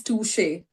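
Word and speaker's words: touché: and the pronunciation is touche. Touche.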